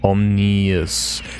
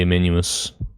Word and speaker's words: ominous: Omnious. Yeah, there's no K in there, Fizzy. So it's definitely ominous.